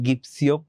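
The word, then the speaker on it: gypsy: হয় এই কারণে কিন্তু অনেক জায়গায় তোমরা হয়তোবা গিপসিও শুনতে পারো কিন্তু জিপসি হচ্ছে এটার মোটামুটি কারেন্ট কারেক্ট একটা প্রোনাউন্সিয়েশন ঠিক আছে time you ওল্ড জিপসি ম্যান মানে কি?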